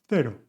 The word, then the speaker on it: cero: You can either sound like casa with the sound k, or like cero, the sound th. Remember, I'm from Spain, and this is the way I pronounce this sound. In Latin America, they would say S francesa. In most of Spain, we would say th.